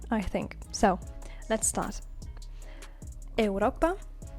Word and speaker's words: Europa: Europa. Europa is Europe, written the same but pronounced differently.